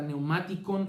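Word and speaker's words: πνευματικόν: cuerpo espiritual que es neumáticon. Empieza por una P y la C, esta neumáticon, es una K.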